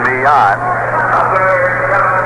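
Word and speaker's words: Millan: baseman is coming up at m-i-l-l-a-n and pronounces it me on he's been up 62 times at 12 hits one triple three runs rather than hitting 195.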